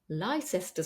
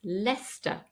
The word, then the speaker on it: Leicester: just for tourists and this is not Lester Square as it looks like it's leester leester Square two syllables you can imagine it's spelled l e s t e r Lester Square and